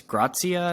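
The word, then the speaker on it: Gracia: Like under Javi, I think it's Grazia, I think is actually how you pronounce it, versus Jesse Marsh.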